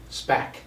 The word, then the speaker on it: SPAC: Whose locals say SPAC.